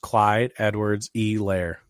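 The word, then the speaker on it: Clyde Edwards-Helaire: had to apologize to because it is actually pronounced clyde edwards e lair it's a hardy really interesting straight from the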